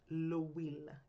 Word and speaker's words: L'Huile: To make the points clearer, we've created a fake company called L'Huile, pronounced L'Huile. The H is silent and it sounds like we.